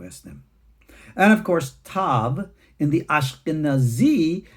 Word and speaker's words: tav: And of course, tav, in the Ashkenazi, they will pronounce the alternative as an S or a sav.